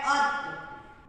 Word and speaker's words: अतः: इसको हम क्या उच्चारण करेंगे, अत, अत का कोई मीनिंग नहीं होता है, तो इसको क्या बन गया ये, अतः। इसमें अगर विसर्ग लगा देंगे तो अतः हो गया।